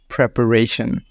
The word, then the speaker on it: preparation: my preparation in Bangladesh most people pronounce it this way but it's best to pronounce it preparation